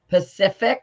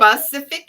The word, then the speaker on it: specific: can't say this word so pacific is that how you say it specific yes yes pacific race on how